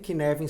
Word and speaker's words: Cynefin: Kinevin se escreve CYNEFIN.